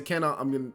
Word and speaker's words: Kanon: Kanon or Kanon. Kanon, I'm going to say Kanon, it's easier to pronounce.